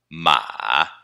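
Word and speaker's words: 妈: MA terceiro tom, Ma. O caractere da mãe está pegando o som emprestado dele. Então, como que a gente lê o caractere de mãe? MA primeiro tom, Ma. Certo? Vejam que, quando um caractere pega emprestado o som de outro, o som não se mantém necessariamente idêntico. Aqui, por exemplo, mudou o tom.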